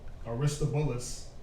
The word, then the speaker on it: Aristobulus: Says he inherited the throne from his brother Aristobulus and married his brother's widow.